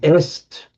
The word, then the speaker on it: est: Now if you look at what happens in French, sorry, in in Latin, you get um est which you is in French written exactly the same but just pronounced E and in Italian written as E.